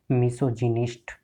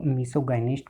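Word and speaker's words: misogynist: जैसे हमारा second word है मिसोजिनिस्ट, तो कई बार हम इसको मिसोगाइनिस्ट प्रोनाउंस कर देते हैं, तो ये गलत है।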